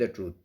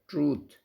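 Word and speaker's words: truth: इफ़ you speak the ट्रूथ, तो यहाँ पे जो है हमने विल नहीं लगाया, ठीक है। इफ़ you speak the ट्रूथ, ये प्रोनाउंसिएशन इसकी होती है ट्रूथ, ट्रुथ नहीं होता, ट्रूथ।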